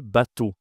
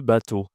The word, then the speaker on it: bateau: On dit le bateau. Le bateau. OK. Ici la prononciation de E à U, c'est O.